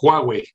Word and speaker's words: Huawei: no te lo puedo decir bienvenido siempre lo pronuncias mal ministerio es huawei como cuantas con jota huawei oye muchas gracias